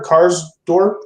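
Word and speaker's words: Karsdorp: um at the end of the game car cars Dorp right that's how you say it Chris yeah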